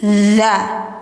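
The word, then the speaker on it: فكذبوه: bil husna Fakadza dza bukan da da tapi dza dza lidah ujung ditempel gigi atas fakadza bu panjangkan karena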